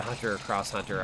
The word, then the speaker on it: Hunter x Hunter: one or the other I think it's pronounced cross but it doesn't really matter just depends on the person um but like I